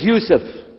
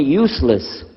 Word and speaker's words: Yusuf: we'll work on itah my name is Yousef can you say Yousef said Yousef very good I wish you teach my wife she keeps mispronouncing it she calls me useless alhamdulillah now how many